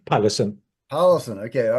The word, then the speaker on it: Pallesen: I'm so sorry, but Pallison, how do you say your Mm. name? Pallesen.